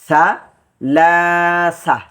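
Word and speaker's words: ثلاثة: হয়েছে বারবার বার সালাসা সা লাসা সালাসা ওয়াকফের সময় গুল তা টা হা হয়ে যাবে এজন্য সালাসা অর্থ হচ্ছে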